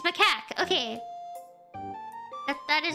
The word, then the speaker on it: macaque: It's macaque.